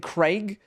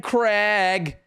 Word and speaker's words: Craig: Americans need to stop naming people Craig until they learn to say it properly. Craig. Craig. Craig. It's spelled Craig. Craig. Craig. That's Craig. Fuck off! Oh, it makes me so angry. Fucking Craig. Like it's an egg.